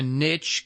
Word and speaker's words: niche: get stuck in a niche kind of of of what I call a niche stage which which niches are are good niches are very good Niche rhymes with Rich for a reason um you know I